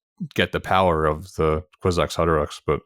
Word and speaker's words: Kwisatz Haderach: that he has to die to become the Kwisatz Haderach.